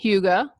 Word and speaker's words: hygge: fun with it I've seen books such as Huga the Danish art of Happiness the little book of Huga and remember that's spelled Hy g g the little book of